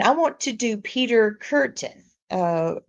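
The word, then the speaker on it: Kürten: And I want to do Peter Curten. Uh Kurten. I can't say it right. Not like a curtain, like a drapery, but ken.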